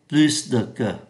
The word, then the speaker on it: plus: âm ký từ s khi so sánh danh từ thì chúng ta có Plus được ký từ S phải phát âm Plus so sánh động từ chúng ta cũng phải phát âm ký từ S động từ đi với